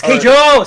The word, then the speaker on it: Keijo: It's Keijo.